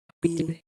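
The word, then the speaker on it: appeal: अपील A double P ई ए एल अपील में ए के बाद डबल पी आया है। इसीलिए इसमें ए का उच्चारण शुरुआत में छोटा आ होगा।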